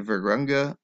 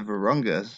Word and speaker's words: Virunga: and the democratic republic of the congo the virgranga the virunga sorry but butchered that the varunga national park is one